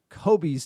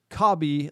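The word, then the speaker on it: Kobbie: I get it with the loanees or transfers, but it's time to put respect on Kobe's name It's Kobe, like Robbie, not Kobe.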